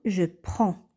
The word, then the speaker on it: prends: met les terminaisons suivantes et ça nous donne je prends alors le DS ou le prononce pas on dit je prends tu prends